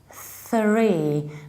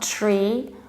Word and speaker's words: three: this way you starts to say three three not tree our tongue is behind our teeth it's it can't be behind it needs to be in between exactly the way Johnny shows you three three at first